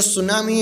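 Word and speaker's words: tsunami: इन तीन चीजों से क्या होगा, जो सुनामी है वो क्रिएट होगी. ठीक है, तो हमें याद रखना है यहाँ पे सुनामी है ना उसमें टी साइलेंट है, सुनामी ही बोलना है, तो सुनामी नहीं बोलना है.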